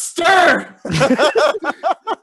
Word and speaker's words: Ster: Dude, it's pronounced Ster!